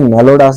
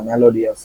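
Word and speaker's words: melodious: এখানে কিন্তু মেলোডাস বলে না, মেলোডিয়াস বলে। আমি কি ভুল জানতাম এতদিন? মেলিডিওয়াস না মেলিডস, আরে বানান ভুলেছি। মেলোডিয়াস, দেখছেন? এই যে আই ও ইউএস অনেক জায়গায় শ্বাস, অনেক জায়গায় ইয়াস উচ্চারণ হয়, এই কারণে কনফিউজড হই আমি।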